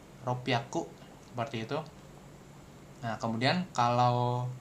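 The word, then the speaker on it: ろっぴゃく: Kemudian ada di 600 juga dia beda jadi ropyaku gitu. Ropiaku. Jadi ini kita ngomongin pelafalannya dulu nih, pronunciation-nya gitu. Karena nanti bisa juga keluar di ujian JFT nih. Kalian disuruh ini apa nih? 600 seperti itu. Nah, kalau 600 ropiaku ada su kecil di sini tuh ropiaku seperti itu.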